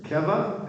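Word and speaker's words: קבע: Okay, it's accented on the first syllable there, though. Keva and kavanah. The first word is first syllable, the last word is on the second word is on the last syllable.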